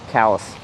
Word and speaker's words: Calais: they pronounce them differently pass through Calais Maine what was it actually callus all right quick bite